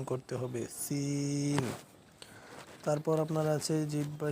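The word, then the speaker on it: سين: তারপরে হচ্ছে আপনার সিন। জিহ্বার আগা, সামনে নিচের দুই দাঁতের পেট ও আগার সঙ্গে লাগাইয়া একটি হরফ উচ্চারিত হয়, যেমন সিন।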